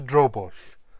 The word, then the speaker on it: drobwll: Dro is just dro, and bush, like push, but this is bush with a double L at the end. So this is drobush.